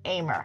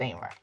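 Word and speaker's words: Ahmer: my last name but it's spelled like a h m e r so it looks like armor but it's aimer it's pronounced aimer so everyone calls me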